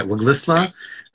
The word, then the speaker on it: Waglisla: Did I pronounce that correctly? Yeah, Waglisla, which is commonly known as Bella Bella in British Columbia.